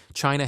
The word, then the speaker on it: Qin: the Chinese word chin it is written as Qin but pronounced as Chin Chin was the name